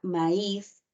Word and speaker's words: maíz: u ya entonces en el caso de la palabra maíz No tú observas ahí que tenemos una a una i pero quien está pronunciándose con mayor intensidad es la i no Y además hay que colocarle la tilde igual la ud no